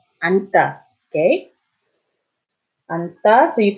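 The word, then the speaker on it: 앉다: So in this case, you only pronounce the first one. 안다, 안다, okay?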